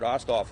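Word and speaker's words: Osthoff: from now say your full name and spell it okay hey guys my name is oskoff o-s-t-h-o-f-f um case any of you don't know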